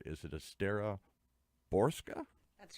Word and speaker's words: Estera Borcsa: Is it Estera Borcsa? That's right. Boy, I practiced that for hours here. Borcsa, because it's spelled differently, but it's pronounced differently.